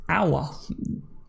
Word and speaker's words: Aouar: for and that is our Leo the odds midfielder I kept calling him a alright I don't know why but you pronounce it our okay so right what